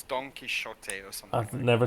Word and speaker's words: Don Quixote: was a silent t don quixote not it's it's an x but it's apparently pronounced as a ch the same as like the chin dynasty but it's it's like yeah it's don quixote or something i've never